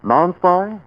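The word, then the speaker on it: Nonspi: Non-spy. I pronounce it safe from offending.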